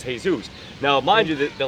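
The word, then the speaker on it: Jesús: just like you you the pronunciation of this in the English would be Jesus the pronunciation though in Spanish is Jesus.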